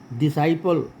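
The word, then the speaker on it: disciple: डिसाइपल, DESCIPLE। Science, ये तो सब लोग जानते हैं। एस के बाद सी रहता है, सी का उच्चारण नहीं होता।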